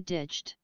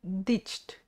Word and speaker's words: ditched: don't know nice foreign don't have the habit of two syllables when you see ditched okay still only one syllable okay ditched ditched oh I see thank